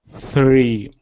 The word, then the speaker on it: three: really good next one three good so do you know which mistake you were making yes Tre I think yes I think you were saying it and you were rolling your tongue as well so what you said